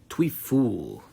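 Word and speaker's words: Trouillefou: Tweu clopon twe which literally translates to lame fearful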